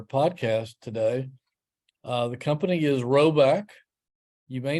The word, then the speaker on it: Rhoback: The company is Roback. You may not have heard about it. It's I think they're relatively new. It's spelled RHOBACK.